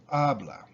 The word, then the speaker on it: habla: Strong vowel, such as habla, hablas, hablan. That is, he speaks, you speak, they speak. Of course, those would have two syllables, a and bla, right? Habla, hablas, hablan. They end in a vowel or an S or an N, so it's the second to last syllable, second to last vowel.